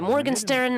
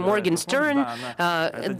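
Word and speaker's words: Morgenshtern: the showbiz news and she mispronounces the name of the artist on purpose so she would be talking about the morgenstern and we'll be calling him morgan stern this will become viral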